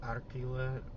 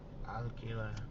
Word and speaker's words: alquila: Just like how if you say Arquila, the Spanish person might say, huh? And then you say Arquila again, and then they go, oh, okay. Alquila.